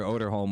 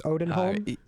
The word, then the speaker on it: Odenholm: That was something that I heard from Buster Oderholm was I hope I'm pronouncing that right. I think it's Odenholm. Yeah. Odenholm? Odin okay. With a D. With an N, I mean, Odenholm.